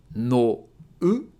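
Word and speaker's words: 脳: have ‘nou’ So again: ‘NO-U’ But when /u/ is placed after an /o/ sound it's going to make it a long vowel So it's not ‘no-u’ it’s ‘nou’ And it means the ‘brain’ Thank you so much for watching!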